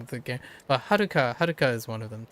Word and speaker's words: Haruka: Um and the biggest giveaway is a lot of the characters names have Rs in them like Haruka.